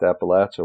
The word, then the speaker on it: Appalachia: it it sounds beautiful it just happens to be pronounced Appalachia where I'm from I